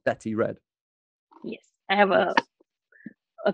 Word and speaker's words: Bethy Red: way but we say betty betty betty i have yeah i have that so it's b e t h y red r e d but it's pronounced betty red yes i have a